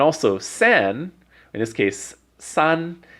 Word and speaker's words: 三: sin in this case Sun is the word for three it's the pronunciation Sun and you see I